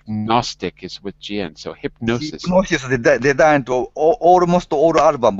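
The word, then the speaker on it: Hipgnosis: Because the GN is, you don't pronounce the G. The G is silent. So because like Gnostic is with GN. So hypnosis.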